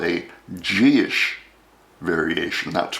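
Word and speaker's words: dithis: variation we call a gish variation. That's pronounced Gish, pronounced not at all the way it's spelled.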